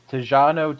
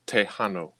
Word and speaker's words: Tejano: also went with the five tijano twist i believe is that that's how you might pronounce it as a texan it's tejano thank yeah yeah okay well